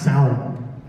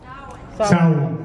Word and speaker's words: Samhain: But I think it's pronounced Samhain. Samhain, right?